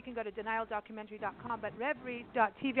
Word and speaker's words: Revry: I just want to keep saying Revry. It's a thing from living in South Africa. I want to make it Dutch. Sorry. But Revry, that's how I would pronounce it.